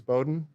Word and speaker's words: Bowdoin: you had to educate someone on how to pronounce the name? It's Bowdoin College, and, it's been a few times, but usually I just let it slide.